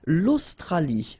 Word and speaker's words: l'Australie: L'Australie, l'Océanie, l'Antarctique, l'Eurasie, l'océan Atlantique, l'océan Pacifique. Okay, so let's see them one more time. L'Australie, final E not pronounced.